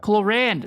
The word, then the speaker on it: Clorinde: Clorinde. That's how she pronounces it.